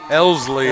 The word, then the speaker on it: Elsley: Now batting, senior number 3, Rayleigh Elsley. Elsley, I had it right the first time. I was mispronouncing it, but so Elsley takes a first pitch ball to open the at bat.